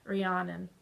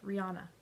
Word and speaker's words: Rihanna: Mary Stuart, and then Cleopatra, and then finally Rihanna. I never say it right. Rihanna.